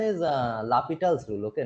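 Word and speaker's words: L'Hôpital: first, Actually, the pronunciation is L'Hopital's rule. Okay, not L hospital rule.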